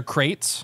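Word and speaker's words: kraits: group name of them it's not spelled like a crate like a wooden crate it is like uh it's KR a i TS oh they're really pretty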